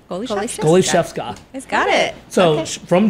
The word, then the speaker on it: Goliszewska: your last name it's you have to break it up in three parts goalie goalie chef chef sca sca goie goalie Chef SCA he got it so